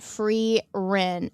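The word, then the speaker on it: Frieren: Her name is pronounced Free Rin.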